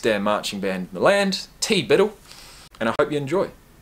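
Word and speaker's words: TBDBITL: if it weren't for TBD be ITL pronounced T Biddle the best n the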